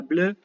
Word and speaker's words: bleu: Que se escribe bleu, ¿sí? Se pronuncia bleu, y los griegos dijeron blé, porque los griegos no tienen las vocales complicadas que tienen los franceses.